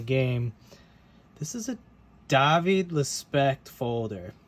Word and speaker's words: Lespect: this is a David respect folder I pronounce it that way because he is from France he's been making knives since 2005.